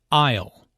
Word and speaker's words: aisle: Aisle. Notice the silent S in aisle.